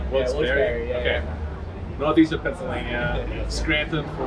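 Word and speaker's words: Wilkes-Barre: gonna have his placement Wilkes Bar, right? Barry. And then is that how you say it? I've heard different things. I think it's Barry. Wilkes Barre.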